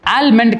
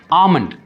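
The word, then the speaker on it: almond: ஆல்மண்ட் கிடையாது, it's actually pronounced as ஆமண்ட். அதாவது அந்த எல் வந்துட்டு நம்ம ப்ரொனவுன்ஸே பண்ண மாட்டோம், ஸ்ட்ரெஸ்ஸே பண்ண மாட்டோம், அந்த எல் லெட்டர் வந்து நம்ம ஸ்ட்ரெஸ் பண்ண மாட்டோம், இட்ஸ் கால்ட் அஸ் ஆமண்ட்.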